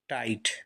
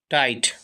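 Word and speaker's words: tight: स दृष्टि आगे देखिए टी आई टाई जी H silent और टी से टा टाइट टाइट कसा हुआ सी ए आर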